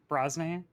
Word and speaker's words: Brosnahan: Brosnahan.